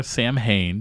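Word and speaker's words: Samhain: Rick Rubin saw when, or Sam Hain, depending on how you want to pronounce it, Danzig's second band, and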